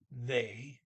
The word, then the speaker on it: ved: Then it are is they, VED. The D is silent.